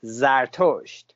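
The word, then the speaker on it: زرتشت: Well, Zoroaster is one pronunciation, a different pronunciation of Zarathustra, or in Persian language, in Farsi, is Zartosht. And so these are three different pronunciations of the same name, and it's a name of a Persian prophet.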